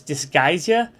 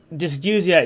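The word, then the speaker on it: dysgeusia: now a side note I have heard people pronounce this disguisia however dysguzia is technically the correct pronunciation of the term but if you hear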